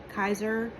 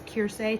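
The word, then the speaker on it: Keirsey: I took, the um Kai Kaiser or the Kirs, totally saying it wrong. It's KSE temperament test, I think, is what it is. K E I R S E Y.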